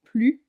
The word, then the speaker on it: plus: Je n'ai plus faim. Ici, plus signifie ne plus. Donc le S est muet.